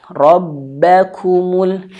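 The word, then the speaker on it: ربكم: Jadi kalau untuk huruf ba fokus kepada huruf ba kalau dia tasdid maka ada sedikit nabrnya. Rabba, Rabba, Rabba. Jadi jangan sampai terlalu lembut ya. Rbakumul rbakumul. Nah, tidak. Tapi ada hentakan ya.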